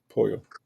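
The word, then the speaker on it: pollo: So, um, uh, po, you don't pronounce the L's. Poo.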